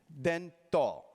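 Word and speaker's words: 伝統: the first first word is tradition and it's pronounced then tall can you repeat with me then tall okay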